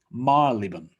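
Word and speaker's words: Marylebone: say until they visit london repeat after me marlbon marley okay next one ah if you've watched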